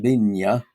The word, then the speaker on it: Vina: So, and he's the one who gave the the name Vina. Really, it should be it's Spanish, but it should be pronounced Vigna.